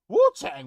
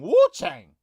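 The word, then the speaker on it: Wuchang: Wu Chang. Wu Chang. Take Wu Tang first of all and change it.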